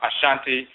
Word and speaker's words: Asante: of the aan people you have the Asante some people pronounce Ashanti That's the largest aan